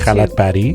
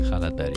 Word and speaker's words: Kalatbari: Khalat Badi. Khalat bari. It's spelled Kalatbari.